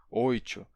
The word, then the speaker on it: oito: muito, e sim porque existem pessoas que dizem muito em vez de muito. E essa pronúncia muo, oito, doido existe em vários lugares do Nordeste.